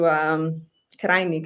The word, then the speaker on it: Krajnik: But recently Nina Krajnik, which you Krajnik actually is pronounced, which you've mentioned, a self-proclaimed psychoanalyst or the only Lacanian in the Balkan field, let's say.